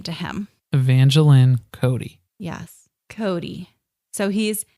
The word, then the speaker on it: Evangeline: And Janelle just sort of said Evangeline. Well, she mispronounces it first, but then she gets it right after a couple of tries. So it's Evangeline.